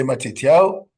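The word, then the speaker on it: מתתיהו: In Hebrew, say Matityahu.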